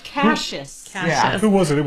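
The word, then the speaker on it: Cassius: That's pronounced Cases.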